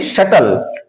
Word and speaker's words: subtle: इसी तरह से SUBTLE है, तो टी के पहले बी आ गया तो बी का उच्चारण नहीं किया जाएगा, इसको हम पढ़ेंगे शटल।